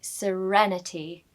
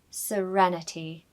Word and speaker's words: serenity: Pronunciation tip for serenity is R-E-N is pronounced quite loudly in the word, so you need to say serenity, serenity.